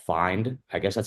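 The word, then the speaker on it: Phind: I think it's called Find. I guess that's how you pronounce it.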